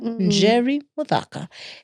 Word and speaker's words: Njeri Muthaka: Njeri Muthaka.